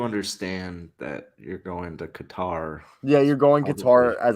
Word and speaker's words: Qatar: You're saying it like a Texas oil man. It's actually Qatar. So yeah, if you want to be cultured, it's Qatar.